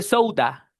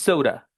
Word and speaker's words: soda: Y por último, no se dice soda, con A de Argentina. Es no soda, it's soda, soda. A. Este sonido del final, eso es un schwa.